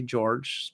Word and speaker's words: Jorge: And our second Chrome is Diane Jorge, or maybe George. Some people say George, but spell it that way, for the Rockies.